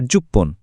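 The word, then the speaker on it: じゅっぷん: কিছু সংখ্যার শেষে উচ্চারণটা ফান না হয়ে পন হয়। যেমন এই স্লাইডে দেখুন, 1, 6, 8 আর 10 মিনিটের জন্য আমরা বলি এপ্পন, রপ্পন, হাপ্পন আর জুপ্পন।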